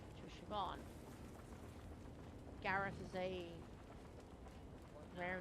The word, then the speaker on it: Siobhan: It's Siobhan, not Siovhan. It's B, not V.